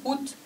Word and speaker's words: août: juillet juillet 八月呢？août août、啊、这个得发音 août 啊，这三个发起来合起来发 août 的音。